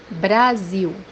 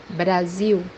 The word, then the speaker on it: Brasil: this letter is pronounced as U or W in English when it comes by the end of the word. The example that we have here is the word Brazil, which means in Portuguese. Brasil, Brasil, Then we have